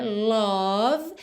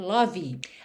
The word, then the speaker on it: love: De novo, esse O não é love e muito menos esse E final pronunciado. Então, cuidado para nunca dizer love. A gente tem, então, love. Percebe como rima? Above, love.